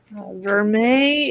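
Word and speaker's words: vermeil: Verme is gold over sterling.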